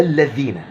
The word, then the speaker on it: الذين: أذن و وتعلمنا أنها ما ينفعش نقولها إلا الذين تطلع لسانك نسبيا خارج خارج خارج الثنايا الأمامية يسيرا علشان تنطق الحرف صح وفي حرفين كمان إن